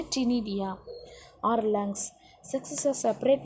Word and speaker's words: ctenidia: C is a silent, we want to pronounce as in a ctenidia or lungs.